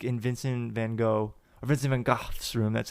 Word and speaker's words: van Gogh: It was called The Starry Night, and you're like in Vincent van Gogh's room. That's how you actually pronounce it.